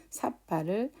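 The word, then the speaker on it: sabba: 그래서 여기 같은 경우에는 삿바를 그냥 이렇게 비읍을 넣어서 삿바 이렇게 하면 될 것 같은데요.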